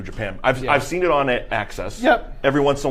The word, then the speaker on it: AXS: It's on Access TV, which is spelled AXS.